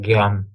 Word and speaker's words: Guillaume: They have trouble with Guillaume pronunciation. It's like Guillaume.